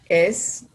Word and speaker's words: as: As plus plus adjective plus as. Not so plus adjective plus as. Okay, sounds always like Z, okay?